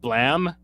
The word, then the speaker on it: Blame: about uh Mr nihay's breakthrough work the manga blam I know I am an e and you should say blame that's not how it's pronounced though like for